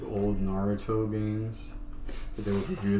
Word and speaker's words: Naruto: that's how I learned about some of those like old Naruto games.